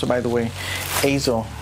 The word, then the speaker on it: Eizo: the uh and that's the correct way to pronounce it by the way Azo not ISO a lot of people mispronounce it okay so